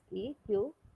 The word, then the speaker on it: SQL: But whenever we pronounce it, we generally embed one more word, that is SEQUL, like this.